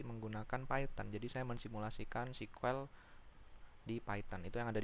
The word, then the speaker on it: SQL: akan belajar mengenai sequel biasanya orang ada yang mengjanya SQL tapi cara bacanya sequel Nah di sini kita akan